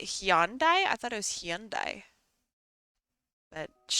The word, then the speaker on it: Hyundai: I thought it was Hyundai but I don't know I don't car it's not hondai I know that cuz there's Honda and then there's Hyundai Hundai is a different